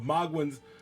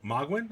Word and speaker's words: Mogwyn: But what you want is, we are at the teleportation area of Mogwyn's Temple, I believe.